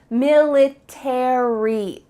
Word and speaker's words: military: But in American English, each of those letters are pronounced military airy.